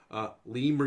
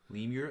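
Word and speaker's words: lemure: in there are lures I've been calling them little yours I found out earlier today it's actually pronounced lemur your leme yours theirs leave years yep lee muir that just sounds like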